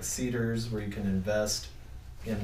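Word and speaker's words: CDARS: banks that do it it's called Cedars how do you spell it's it's a it's an acronym and don't quote me on what the acronym stands for but it's CD ARS they call it Cedars it's a way to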